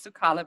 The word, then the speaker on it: Suckale: The real pronunciation is Suckale, but it's fine. Suckale.